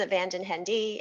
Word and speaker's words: Van Den Hende: i giggled a little when i said vanjin henda because the funny thing is in our family even the same within the same family we pronounce that same last name differently so rob often pronounces abandoned hendy and then our my dutch father-in-law pronounces it in the proper dutch way which i cannot do justice to but it is